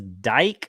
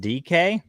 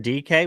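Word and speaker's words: Dike: It looks like it says dyke, but it's pronounced DK. So it's Shamir DK, which makes no sense.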